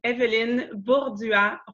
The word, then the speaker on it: Èvelyne Bourdua-Roy: just for the fun of it the real pronunciation is evident bullseye Wow see see how much better that is